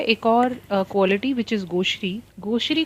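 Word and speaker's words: gauche: इसको प्रोनाउंस करते हैं गोश, और इट is associated with clumsiness.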